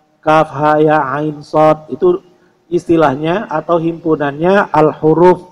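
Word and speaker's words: كهيعص: Cukup dua harakat saja Kaf ha ya ain Shad jadi Kaf Ain Shad dibaca enam ha ya dibaca Dua cara membacanya adalah dengan membaca nama hurufnya bukan kaha aso ya ternyata tidak sedikit juga yang membaca seperti itu berarti dia belum pernah belajar tajwid sejak kecil ya kahaya aso itu tidak seperti itu Kaf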